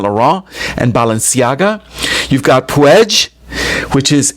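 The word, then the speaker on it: Puig: You've got Puedge, which is P UI G. It's a Catalan word, but it's pronounced Pue.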